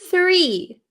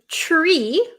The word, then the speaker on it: three: tree okay the number so at first my tongue is like comes out like a snake right three okay I hope that